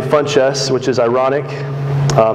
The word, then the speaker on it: Funchess: that one last name funchess which is ironic it's spelled fun and chess the game chess i don't play chess